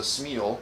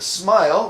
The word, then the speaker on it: smial: to work out we I always for years thought it was a smeal yeah me too but uh but apparently is a smile which just means a